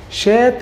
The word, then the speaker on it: chat: طبعا بقول لك كلمة شا من اصل انجليزي بمعنى دردشة تتنطق شات وبرضه معناها قط تتنطق شا يبقى شا قط شات اللي هو الايه اللي هو الشات.